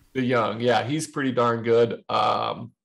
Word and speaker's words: DeJong: I'm not sure how they pronounce it. I think DeJong. Yeah, you had it right. DeJong.